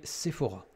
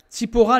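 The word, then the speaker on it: צִפּוֹרָה: une femme qui s'appelait sephora ou sipora si on veut prononcer en hébreu sipora les deux premières lettres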